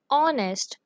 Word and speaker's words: honest: We have learned that whenever a word that is beginning with H and it is not pronounced, So we will use an instead of using a.